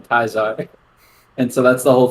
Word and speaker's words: Caesar: wait who is Julius in Fallout New Vegas there's a villain also called Caesar except people who respect him call him kaizarre and so that's the